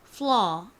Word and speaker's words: flaw: 가장 앞이 f 발음으로 f로 시작합니다. 그리고 full 이렇게 밑에 리을 받침이 들어가는데요. 바로 L의 소리입니다. 그 다음에 뒷부분이 law 이렇게 되죠. 소리가 나는 이중모음 A, W를 적어주시면 완성입니다.